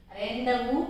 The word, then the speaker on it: rendezvous: So in such a way, here the first lesson is Rendezvous with Ray. Rendezvous with Ray. Rendezvous. See the spelling. So rendezvous. Rendezvous. Z is there, but it is silent.